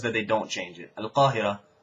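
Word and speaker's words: القاهرة: Al-Qahira stays, the qaf stays qaf. It's not al-Ahira.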